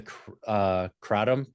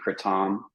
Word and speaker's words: kratom: It's technically kratom. Okay, Um, kratom. that's how it's said in Southeast Asia. I'm still probably getting it wrong, but it's closer to that. And of course, we've Americanized it into kratom, like the Yeah. most American pronunciation possible. So I say kratom, which is sort of an in between.